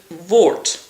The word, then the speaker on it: woord: Woord is like, not a wart, but a woord. So a little bit, maybe a bit bigger and darker than a wart.